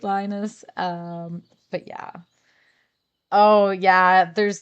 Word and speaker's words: Linus: I think it's pronounced Linus. That's how I pronounce it in my head.